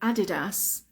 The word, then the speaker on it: Adidas: research on this um in English we call it Adidas Adidas because ADI is from the first name Adolf the person who created